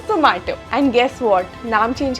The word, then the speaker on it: Zomato: Zomato, तो they wanted something universal and familiar, and इसी वजह से उन्होंने नाम Zomato रखा, like something which rhymes with tomato but with a zing to it, so Zomato.